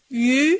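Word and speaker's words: 鱼: Yu, c'est le poisson. Un mot très facile à prononcer avec un joli ton montant.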